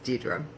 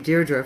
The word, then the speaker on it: Dedra: good friend of mine but she miss prentace pronounce my name Deirdre for about five years were somebody corrected her